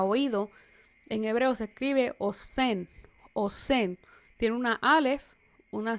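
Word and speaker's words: אוזן: Pero quiero que nos detengamos aquí porque queremos que vean que oreja, oído, en hebreo se escribe osen.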